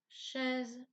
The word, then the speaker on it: chaise: Et les mots maison, chaise, bisou. Dans tous ces mots, le S se prononce Z car il se trouve entre 2 voyelles.